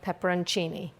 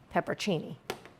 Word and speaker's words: pepperoncini: Star of the show, pepperoncini, not peppercini, okay? Y'all say stuff when I say pepperoncini. It's the way it's spelled.